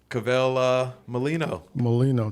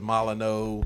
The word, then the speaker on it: Cavelle Mollineaux: the man you know kavel uh molino molino thank you got it right i appreciate you saying my name to right you know how long it's taken me to uh to to say your name for for years it was milo no just practicing that styling